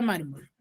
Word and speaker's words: mármol: ¿Cuántas sílabas tiene la palabra mármol? 2. 2, Tiene profesora. 2 sílabas. ¿Y cuál es su sílaba tónica? Mar. Mar. ¿En dónde caería? En la mar.